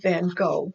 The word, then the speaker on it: van Gogh: it yes it's Vincent van Gogh work Vincent van Gogh the way it is more popularly pronounced so the last picture for this little